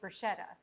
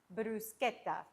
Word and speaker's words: bruschetta: A lot of people say bruschetta. No guys, it's pronounced brusqueta.